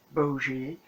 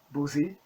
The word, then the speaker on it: buzi: When Bougie, as they are pronouncing it, but it is written as Boozy, is actually pronounced in Hungarian Buzi, means gay, homosexual, and it's a slur.